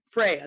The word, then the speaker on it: Freya: So, Freya, that's how you say it, right? Yeah, yeah, Yeah. Freya.